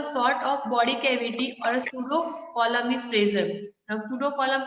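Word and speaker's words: pseudocoelom: अगर कुछ काम है तो they can form a cavity like structure, that is called a सूडो column. P is silent over here.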